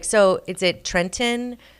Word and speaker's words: Trenton: How do you pronounce just it? you? Okay. But, no, it's Yeah. it's Trenton. Trenton, Yeah.